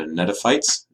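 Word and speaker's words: gnetophytes: the gymnosperms are the Neda fights it's a silent G at the beginning there this is a very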